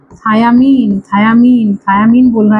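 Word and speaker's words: thiamine: थायामीन बोल रहा है। थायामीन का स्पेलिंग देख लो।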